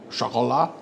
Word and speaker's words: Chocolat: Chocolat. It's German for chocolate.